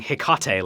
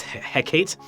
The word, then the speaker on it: Hecate: Because I think before I was saying Hecate, like Tecate, but it's Hecate.